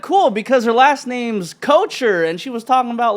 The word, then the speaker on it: Kocher: Did I pronounce that right? Kocher? No, you didn't. It's Kocher. Kocher. But you actually like said it the way everybody else says it. Okay. Everybody says kosher or kocher.